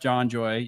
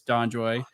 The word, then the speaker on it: DonJoy: Everyone, if you're anything orthopedic knows about John Joy, it's Donjoy. And then pronounce the name for the listeners because I know we're going to mess it up again.